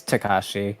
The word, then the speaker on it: Takashi: But it's Takashi.